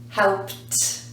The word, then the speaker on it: helped: you got it helped helped we spell it with Ed but we pronounce it helped let's go now to